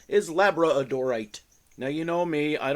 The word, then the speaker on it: labradorite: look at some labradorite some people call it labite but I think the correct pronunciation pronunciation can pronounce pronunciation is labra odorite now you know me I don't care about